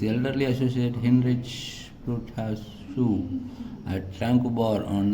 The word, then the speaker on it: Tranquebar: Tarangambadi, formerly Tranquebar, Danish Tranquebar, pronounced Tranquebar, the town of Mayiladuthurai district.